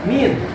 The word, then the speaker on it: mean: Nah, untuk paling rata-rata min, tulisannya mean, dibacanya min.